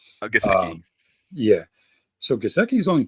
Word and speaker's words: Gesicki: Gazeki. Gesicki.